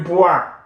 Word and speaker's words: bois: Je bois, or I normally pronounce as wa.